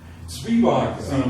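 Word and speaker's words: Zwiebach: Your reference was, is it Zweibach or is it? Zwieback. Well, that's the German pronunciation.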